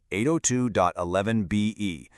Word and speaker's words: 802.11be: And I'm going to pronounce that as 802.11BE because we do not want to confuse it with that classic 802.11b standard we just talked about.